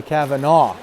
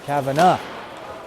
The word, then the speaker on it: Kavanagh: And I know enough not to say Kavanaugh. It's Kavanagh.